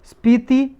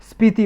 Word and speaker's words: स्पीति: एक देखो स्पीति valley news में थी, स्पीति वैली, स्पीति घाटी, स्पीति या पिति बोलते हैं इसे, पिटी भी हो सकता है इसका प्रोनाउंसिएशन, स्पीति या पिति वैली।